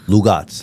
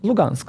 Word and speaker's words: Lugansk: It's like Lugat. How do you say it? Lugansk like this.